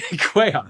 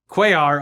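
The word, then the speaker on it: Cuellar: House Representative Henry Kar of Quayar. Quay. Yes. Henry Quayar. Quayarch. Quayark.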